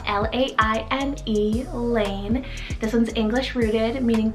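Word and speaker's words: Laine: 51 i have the name lane spell l-a-i-n-e lane this one's english rooted meaning path or roadway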